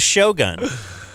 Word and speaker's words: Shogun: That's the way they say it on Shogun. Shogun. We grew up thinking it was Shogun. Shogun. It's not.